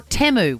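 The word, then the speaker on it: Temu: you order things off Teeu. 132410. Say good day to us and tell us what's the best thing you've ordered off Teeu or Teu, which is actually how it's pronounced.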